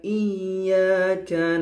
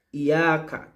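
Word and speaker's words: إِيَّاكَ: bukan rupiah adaptasi di nah cara bacanya harus dimasukkan secara langsung tidak ia Kak tapi Iya ke itu seakan-akan huruf yaitu ada dua dan digabung diganti dengan tasydid di atasnya nah pada kesalahan yang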